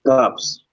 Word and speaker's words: Cops: Is it Copes or Cops? So I can pronounce it right, brother. Cops. Cops. Okay. It's Cops. Okay.